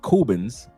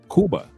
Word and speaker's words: Cuba: America and only date Cubans. Why? Because we're not in Kuba. Kuba or in other words, how we pronounce it in the United States, Cuba.